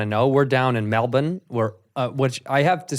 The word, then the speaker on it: Melbourne: my first time in Melbourne," and he's like, "It's Melbourne, mate." Yeah. No, it's not, because it's spelled Melbourne.